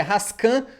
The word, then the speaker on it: Rasquin: aqui com o Rasquin, que eu aprendi agora que a pronúncia é Rascan, né?